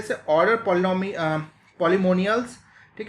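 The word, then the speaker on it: Polemoniales: बहुत ही अच्छा एग्जाम्पल है जैसे ऑर्डर पॉलीमोनियल्स, ठीक है, पॉलीमोनियलिस, ये जो है इसको ऐसे प्रोनाउंस करते हैं पॉलीमोनियलिस, ठीक है, पॉलीनोमियल मत बोल देना इसको, पॉलीमोनियलिस बोलते हैं इसको।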